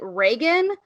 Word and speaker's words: Riggan: It's spelled Riggan, but everyone pronounces it Reagan, like President Reagan.